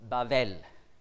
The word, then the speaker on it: Babel: Babel on est brûle on prononce bavel désigne une ville dans